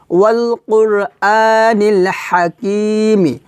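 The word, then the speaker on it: وَالْقُرْآنِ الْحَكِيمِ: এভাবে ওয়াল কুর আনিল, হা জবর হা, হা, এটাও কিন্তু হা হবে না, এটা হবে হা। এই হাটা আমরা হলকের মধ্যখান থেকে উচ্চারণ করব, চিকুন করে চাপ দিয়ে, হা হা।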